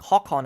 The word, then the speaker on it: Håkon: But we need to do that so that our son, Håkon, I think, Håkon as he's supposed to be pronounced, will be able to actually create the empire.